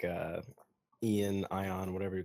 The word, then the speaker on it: Ion: because I I like I like uh Ian ion whatever you call him I like him I do but I feel like the end is silent okay eio I really like eio I just feel like